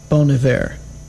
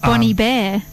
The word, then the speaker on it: Bon Iver: Now, how do you pronounce it? Bon Iver. Let's just see if you're right. Bon Iver. Bon Iver. Bon Iver. Second time. Bon Iver. Not Bonnie Bear.